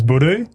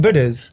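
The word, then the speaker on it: budoo: So indigenous slang for penis, which you heard at the last men's group, is budu.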